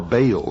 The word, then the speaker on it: Baal: beginning of the ancient worship of Baal our bail is some pronounce it ma was the Sun